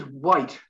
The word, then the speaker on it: white: while while silent h while peculiar then there's white the color white and then why why do